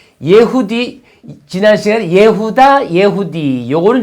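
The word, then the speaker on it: יהודה: 유다, 원래 히브리 발음은 예후다.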